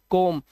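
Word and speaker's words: come: यहां पर इसे सिर्फ डन पढ़ते हैं, सम पढ़ते हैं, इसे सम, नन, लव, कोम, इसे कोम नहीं पढ़ते, कम।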